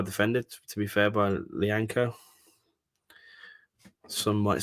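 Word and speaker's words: Lyanco: Ooh, straight to the Southampton defender, Lianco.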